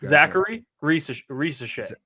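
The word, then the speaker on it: Zaccharie Risacher: Zachary Risache.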